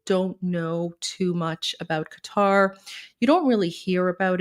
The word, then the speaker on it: Qatar: little bit of a Qatar 101. Well, it's Qatar, but in English, it's pronounced Qatar.